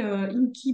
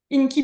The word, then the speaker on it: INCI: Inky Beauty, ça s'écrit INCI, plus loin Beauty.